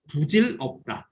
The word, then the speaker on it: 부질없다: This pronunciation has changed, and it is now used as 부질없다.